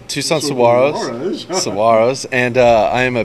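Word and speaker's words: Saguaros: Tucson player coach Robbie Medell comments on the importance of every game that remains after correcting this video journalist's pronunciation of Tucson's team name. Saguaro's. Tucson Saguaro's.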